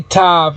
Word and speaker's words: Tav: You say Tav as Tha, that's how you pronounce it, but it's the name of the letter is Tav.